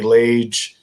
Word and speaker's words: Lage: Just very simply my name, which is Lage, like Cage or Page, Lage is how it's spelled.